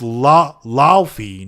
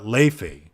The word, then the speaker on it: Laufey: Like PC Gamer put out an article that was like, it's pronounced Laufey, not Leifey.